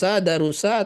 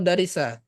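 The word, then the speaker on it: دَرَسَ: atau ini darosa atau Darisa darosa darosa Kenapa darosa bukan darusa bukan Darisa bisa enggak kita baca Darisa H bisa enggak kita baca dari Darisa gini anya tidak bisa darosa itu selalu darosa tahunya dari mana dari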